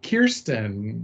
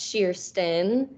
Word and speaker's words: Kirsten: keeps moving around so Kirsten you wanna would you like to introduce yourself hi my name is actually pronounced sheerston okay that's another one